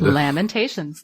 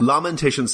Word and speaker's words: Lamentations: looked it up and the first syllable according to the dictionary rhymes with the word lamb all right all right all right it has the exact same vowel indication I stand corrected Lamentations there you go Lamentations